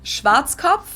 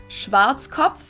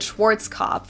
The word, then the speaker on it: Schwarzkopf: over the world pretty much in German we pronounce it Schwarzkopf which literally means blackhead Schwarzkopf English native speakers usually pronounce it Schwarzkopf or Schwarzkopf or something along those lines Deutsche Bank is